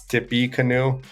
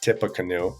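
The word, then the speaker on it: Tippecanoe: but it's tipa it's it's going to look like perhaps Tippy Canoe uh but it's pronounced tipa canoe right in here Napoli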